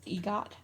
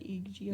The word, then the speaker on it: EGOT: EGOT, I guess is how you say that. EGOT.